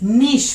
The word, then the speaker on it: niche: Now what happened is, ये जो है ना, ये environment, this is नीश for them. NICHE, इट is pronounced as NEESH, इसको लिख लो नोटबुक्स में, इट is pronounced as नीश।